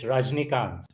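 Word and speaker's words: Rajinikanth: don't like to mess up anybody's name it's rajnikant rajita okay you know a lot of people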